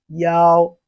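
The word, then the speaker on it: 幺: numbers in chinese language the one is no longer said as e it is now pronounced as yao that is when acting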